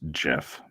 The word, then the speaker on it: GIF: it gif or jif so the person who came up with it pronounces it and says it should be pronounced jeff i think most people say gif because it's a g not a j i guess to me